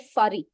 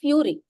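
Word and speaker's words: fury: एफ यू आर वाई he said फरी I said it इज नॉट फरी इट इज फ्यूरी सो ही was looking at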